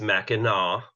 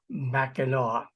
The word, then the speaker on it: Mackinac: Well, I hate to do it, but it's Mackinac. Mackinac. The C is silent. It's a French spelling, but yeah, it happens all the time.